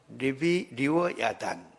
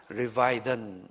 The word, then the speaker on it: 리워야단: 이것을 홉스라는 분은 리워야단, 영어 발음으로는 리바이던 이렇게 하는데 성경에는 리워야단입니다. 또 어떤 분은 레비아탄 이렇게 번역하기도 합니다.